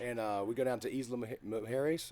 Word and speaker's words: Isla Mujeres: And we go down to Isla Mujeres. Isla Mujeres is how it's pronounced.